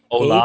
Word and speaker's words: hola: Hola. H-O-L-A is hola. Hola. You don't Hola. pronounce the H. Yeah. Oh, You just leave out the H.